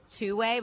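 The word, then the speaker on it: 2wai: There's an AI startup in LA called two-way, but it's spelled W AI and it launched an app that lets you communicate with friends and relatives after they die.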